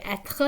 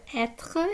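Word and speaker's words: être: english is like but the french r is more like gargling something in your throat so it's it and as it tells us here the word etre is in the infinitive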